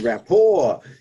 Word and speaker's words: rapport: yeah building rapport yeah it's not rapport by the way it's rapport a french word um it's spelled r a p p o r t so that's why you were joking about it because it is a t but it's a silent t for the french word right so your branding